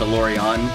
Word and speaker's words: Alourion: part of that word and it's not it's pronounced a lorry on but yes from unfortunate for this van we